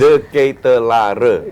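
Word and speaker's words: De Ketelaere: Coba Koci lu pronounce. De Ketelare.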